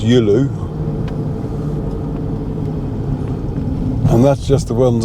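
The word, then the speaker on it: Giolou: And Gyulu is pronounced Yulu.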